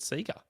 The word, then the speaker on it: Sega: don't know why I I still don't know why there's a long e sound on a single e um myself that was so really yeah well really it should be Sega Sega probably yeah like leg we don't say League correct it's true this